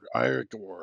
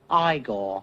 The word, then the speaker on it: Igor: Igore.